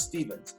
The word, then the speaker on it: Stephens: for Stevens and do not spell it without the p and the H I always say it this way if you spell it with a v you won't get me my name is spelled s e p h NS that's Stevens okay t y s p